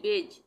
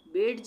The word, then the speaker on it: badge: उसी तरह से सॉरी, ये है BADGE, बेज, बेज, यहाँ पे बेड्ज नहीं पढ़ेंगे, बेज।